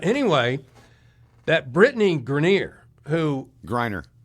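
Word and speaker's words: Griner: Grryer. Grryer.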